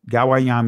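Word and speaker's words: גוים: Gawayam is the proper pronunciation. So again, this is just giving you the paleo writings of what what nation is. So again, that first letter is Ga. The next one is the Wa or Gamal, the Wa, the Yad, the Ha, the Mayam, right? So you'll pronounce it Gawayam.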